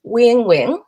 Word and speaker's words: Uyen Nguyen: But it's actually pronounced Uyen Nguyen, which is closest thing really to it is a win-win.